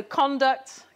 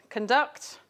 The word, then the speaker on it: conduct: And there are other ones, so conduct, conduct.